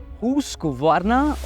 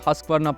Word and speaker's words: Husqvarna: It's pronounced Husqvarna or something like that.